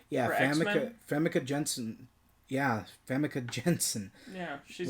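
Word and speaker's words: Famke Janssen: Famke Jenssen. Yeah, Famke Jenssen.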